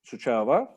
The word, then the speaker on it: Suceava: Suceava. Suceava. That's the right pronunciation, yeah.